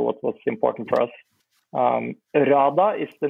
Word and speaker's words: hrada: RADA is the name of our new project. RADA. You might have to spell that one.